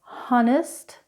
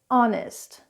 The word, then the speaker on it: honest: It's not honest, it's honest. It's not hair, it's air. Note that because the H is silent, we should put an in front of the word. An honest person.